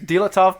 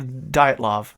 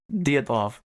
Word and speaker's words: Dyatlov: Dyatlov. Nope. Dyatlov.